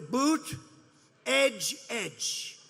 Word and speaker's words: Buttigieg: Boot, edge, edge.